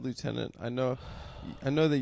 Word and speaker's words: lieutenant: What about left tenant? That's just how the British say lieutenant. Well, that's it. I say it the British way.